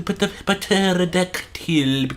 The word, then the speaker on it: pterodactyl: I have to specify that, because now the chat's gonna be like, But Bunyot, what about the pterodactyl? The pterodactyl, the P is silent, Bunyot.